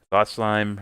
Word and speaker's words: Thought Slime: Thought Slime rhymes with thought crime.